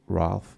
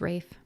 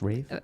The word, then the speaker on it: Ralph: Also, it's Ralph, right? No, it's Rafe. It's pronounced Rafe.